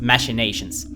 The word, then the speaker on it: machinations: just have to mention the way Simon Templeman Caine's voice actor pronounced machinations here in this bit of dialogue were not dialogue and this bit of voiceover was mashing nations even though in defines when the same word is used he bronzed it he pronounced it like machinations I'm not sure what changed in ten years but I learned the word as machinations and I actually learned